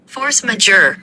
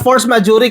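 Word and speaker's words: force majeure: Hindi natin sinasabi na mali ang force majury kasi depende po sa konteksto. Depende sa lugar. Depende kung anong ethnicity, anong klaseng bigkas po, etc. Magkanya-kanya tayo ng pronunciation no? Pero ang ah basis kay Google, ang tamang pronunciation niyan ay force majure. Okay? Hindi majury ha.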